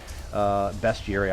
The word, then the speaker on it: bestiary: Bestiary, I call it bestiary. It's got beast in it.